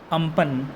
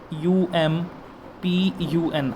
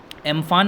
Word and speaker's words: Amphan: ये जो AMPHAN है, हम इसे प्रोनाउंस करेंगे अम्पन, UMPUN, अम्पन। ठीक है, एम्फान नहीं बोलेंगे हम इसे। एक्चुअली जो इसका प्रोनाउंसिएशन है दैट इज़ अम्पन।